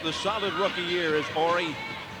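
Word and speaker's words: Horry: solid rookie year is aie he spells it h o r r y silent h the same for uh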